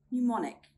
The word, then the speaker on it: mnemonic: And in fact, I only found one example, and that is mnemonic. Let's make a simple sentence. A mnemonic device helps us to remember a code. Let's see if you can find any more silent letter words with the letter M.